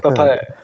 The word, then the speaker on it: Pepe: It's pronounced Pepe. Pepe.